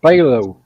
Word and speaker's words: phthalo: about that paint that you had that is pronounced phthalo blue or green they make it they look yeah they make a phthalo blue too Bob Ross used to use it